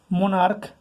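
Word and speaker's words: monarch: মোনার্ক, দেখো শেষে সিএইচ এর উচ্চারণটা ক আসছে, মোনার্ক, সেক্ষেত্রেও আমরা এখানে এস করব।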